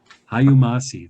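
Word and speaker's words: hayu masi: Hayumasi, that's how you say it, everybody.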